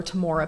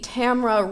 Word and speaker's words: Tamora: So my whole life I've called her Tamora Pierce because that's phonetically correct. But as an adult, I learned that her mom just didn't know how to spell Tamora and spelled it with an O. So it's supposed to be Tamra rhyming with camera, but it's spelled Tamora,